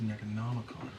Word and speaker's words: Necronomicon: No, it's pronounced Necronomicon.